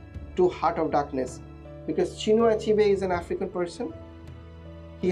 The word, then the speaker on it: Chinua Achebe: First, let's get started with Chinua Achebe is the pronunciation. Chinua Achebe or Chinua Achebe, whatever you would like to pronounce.